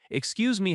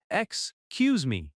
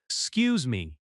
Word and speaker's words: excuse me: Excuse me has stress on "cuse". Excuse me. In natural speech, it sounds like "scuse me".